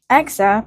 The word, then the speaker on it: Exa: Exa, pronounced like the metric prefix exa, it references the supercomputing term exaflops.